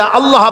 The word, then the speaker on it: আল্লাহ: আল্লাহ পাকের উচ্চারণটা হচ্ছে আল্লাহ পাকের নামের উচ্চারণ হচ্ছে আল্লাহ মুখটা একটু গোল হয়ে যাবে বলেন আল্লাহ আল্লাহ